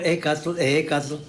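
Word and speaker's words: Ehécatl: Ecat se pronuncia ec y ahora les decir ejecatas, pues si no es en inglés, ¿de dónde sacan darle sonido de j la hek? No, no suena.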